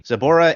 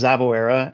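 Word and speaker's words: Zaboera: let me point out the Japanese pronunciation is Zaba and it's really hard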